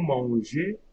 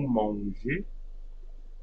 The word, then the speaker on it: mangez: Vous mangez, so EZ will be A. Vous mangez.